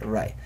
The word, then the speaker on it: right: Así, con H, se escribe rig, se lee right.